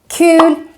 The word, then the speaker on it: kul: Anyway, kul is a useful word, and remember that it's pronounced with a long U.